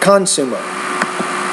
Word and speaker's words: consumer: you present your ideas consumer that's a word stress issue right there so if you need a little bit more help with word stress go to the pronunciation area in my course and study the lessons entitled word stress but i would say consumer not consumer now by a particular